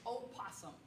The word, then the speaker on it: opossum: sock and that is the proper way to say it is opossum possums are a different species of animal that live in australia we have the virginia